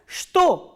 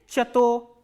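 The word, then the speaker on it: что: next interrogative word is च त ओ एंड एज I've already told you दस this word is pronounced as स् तो not like चतोर एंड the third interrogative word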